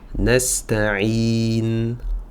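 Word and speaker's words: نستعين: l'écrit en tout cas, on va prononcer un soukoun à l'oral. Donc, Iyaka nasta'in, nasta'in.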